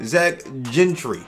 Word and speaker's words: Gentry: pronounce this man's name it's not like Ted Ginn jr. it's more like gin and juice Zach Gentry there we go how